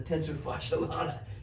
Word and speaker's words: tensor fasciae latae: belly that is the tensor fascia latae or the tensor fasciae latae got to put the emphasis on the right syllable kind of get a